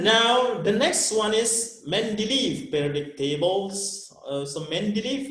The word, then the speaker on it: Mendeleev: let's move that now the next one is mendeleev periodic tables so main belief is the one